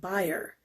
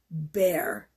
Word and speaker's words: Bayer: for a company named Bayer. That is the German pronunciation. The anglicized pronunciation of that company is Bayer. Bayer aspirin.